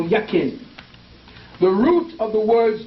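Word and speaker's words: Jachin: The English J is silent and it's Y. So you got Yakim or Yakin.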